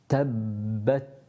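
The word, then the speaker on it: تَبَّتْ: Ta, Tabbat. Obviously the Ba has a shadda on it, so we've got 2 Bas to pronounce. Tab, tab, tab. So you need to make sure that you're pronouncing 2 Bas.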